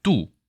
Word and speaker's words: 妬: 또 이야기가 나오니까요 그래서 샘낼 투자에 대해서 우리나라는 이렇게 2죠 중국에서는 뚜 그 다음에 타이완에서 뚜라고 하지만 글자체 지포자가 좀 다르고 일본에서 우리와 글자체는 같지만 도금은 토라고 발음을 한다 정도 아시면 될 것